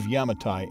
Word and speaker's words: Yamatai: the the rice the pronunciation of yamatai in Japanese is very similar to Yamato some experts believe that